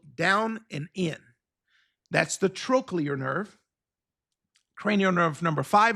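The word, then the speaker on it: trochlear: So that's pronounced trolear.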